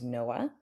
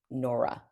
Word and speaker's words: Noah: that my name is Noah, in those cases. Mm, So the mispronunciation would be Nora, right? okay. They jump to Nora, and um, off the